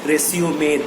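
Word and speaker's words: résumé: Because we are using the same word resume for our curriculum vitae CV also the word resume has to be pronounced as resumay there So next time when you attend an interview you tell the HR that...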